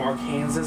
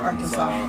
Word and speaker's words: Arkansas: I says, "I'm from our Kansas. Butter butter is a religion." Arkansas. It's pronounced Arkansas.